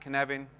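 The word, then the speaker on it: Cynefin: canvan canvan is a Welsh word um it's pronounced canvan um it means in Welsh it doesn't mean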